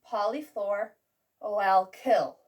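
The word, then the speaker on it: polyfluoroalkyl: pronounced p fuzz and this lovely word which is pronounced polyflor oil kill remember that it kills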